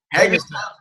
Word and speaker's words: Hagerstown: Hagerstown, Maryland, yes.